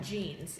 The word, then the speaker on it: genes: to talk about jeans not like jeans that you wear on your legs but jeans it's spelled like this g e n e